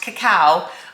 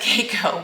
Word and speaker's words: cacao: I believe it's pronounced cacao. I've always said Keiko, but I do think that someone corrected me recently.